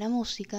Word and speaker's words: música: The first example of this video, the word "música" (music) is esdrújula. Therefore, it has an accent mark.